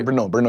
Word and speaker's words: Brno: Where, how do you pronounce it? Brno? Huh? Yeah, Brno is my city.